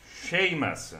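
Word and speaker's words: Seamus: ma Ridimmi un attimo Come si pronuncia il tuo nome perché Cè Sham shamas shamas dice ancora potrei riservarti potrei riservarti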